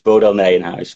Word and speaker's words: Bodel Nijenhuis: And at Leiden, an important part of this is the enormous collection of Johannes Tabir's Bodel Nijenhuis. How did I do on the pronunciation? Okay, it's Johannes Tiberius Bodel Nijenhuis, but I don't expect of you to pronounce it correctly.